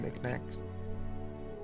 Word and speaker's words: knickknack: various shitty looking nickn think it is with a silent k on knickknack huh how the [